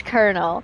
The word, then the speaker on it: Colonel: For me, it's Colonel. Look at that. Colonel. It makes no sense if it's a Colonel.